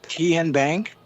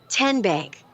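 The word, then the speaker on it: TnBank: How do you say the name? Ken Bank. Nope. Kin Bank. Uh-uh. So, what is it? Ten Bank. 10 as in Tennessee.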